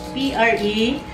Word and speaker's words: prezzemolo: Parsley, in Italian it's prezzemolo. P-R-E-Z-Z-E-M-O-L-O. That is prezzemolo.